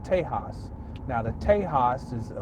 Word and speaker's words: Tejas: a Sanskrit standpoint but it's spelled T e JK s now we know that's a Spanish word that we pronounce Tejas okay we back we're gonna